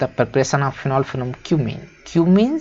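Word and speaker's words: cumene: Give the equations of the reactions for the preparation of phenol from क्यूमीन। क्यूमीन से हमें आपको equation बताना केवल कि क्यूमीन से, इसको कुछ और मत पढ़ लेना भाई, ये क्यूमीन है।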